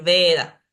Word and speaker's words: Veda: Cuando inicia la palabra, como acá en Veda, siempre voy a decir Veda.